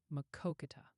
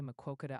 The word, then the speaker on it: Maquoketa: It's pronounced Maquoketa. That's how you say Maquoketa, Iowa.